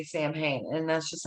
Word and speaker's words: Samhain: summer's end and though you're probably tempted to pronounce it samhain it's actually pronounced salween or sal salween ancient celtic religion one of